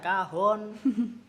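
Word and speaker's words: cajón: namanya juga aneh John Lie bacanya kahon itu dan mulai di situ sayangku kenapa Oh ternyata dari bahasa Spanyol atau mana gitu kan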